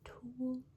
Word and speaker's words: Tul: So this one is the Tool brand black gel pen right here. It's T-U-L is how they spell it.